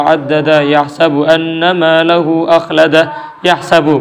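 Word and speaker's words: يَحْسَبُ: Yahsabu pakai fathah, yahsabu.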